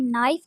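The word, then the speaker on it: knife: चाकू को इंग्लिश में नाइफ कहते हैं और के साइलेंट है नाइफ चाकू नाइफ चाकू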